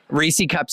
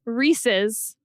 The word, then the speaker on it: Reese's: active aggression reesei cups Reesey cups is an act of love he pronounces them Reesey cups when it's clearly Reese's and we know that